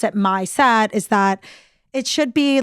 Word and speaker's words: Misette: and vignettes um but we pronounce it my set like my set of table wear so it's really about